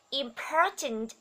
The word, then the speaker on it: important: Tiếp theo đó là ear, ear, ear, clear, clear, clear, clear, is, important, important, chú ý trọng âm nhé, important, trọng âm rơi vào âm thứ hai đúng không ạ?